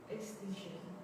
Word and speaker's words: extinction: Extinction. Extinction. Very good. Everybody? Extinction. Extinction. Extinction. Okay, good. So lots of stress here on the X.